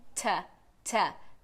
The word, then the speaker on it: to: eu tô enfatizando aqui, eu falo to mesmo, como o number two. 1, 2, 3. Então é a mesma pronúncia. Só que quando a gente fala em contexto, na fala corrida, na fala natural, a gente acaba pronunciando como ta. Então na fala natural, em vez de to, a gente fala I want to go. Porque ela fica bem fraquinha, então a gente usa a vogal schwa, que é esse símbolo aí.